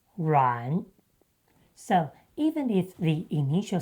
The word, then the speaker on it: 阮: But in Mandarin, we pronounce ruǎn.